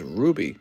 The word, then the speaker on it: RWBY: food stamps and cash rwby is pronounced as ruby oh i didn't know